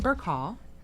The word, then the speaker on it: Burcaw: Um Shane Burkhall. Did I pronounce that correctly?